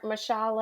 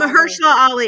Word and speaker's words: Mahershala Ali: It was Julia Roberts, Ethan Hawke, and then Oh Chweat yes, I butchered his Mahershala name. Mashallah Oh, Ali. Mahershala Ali.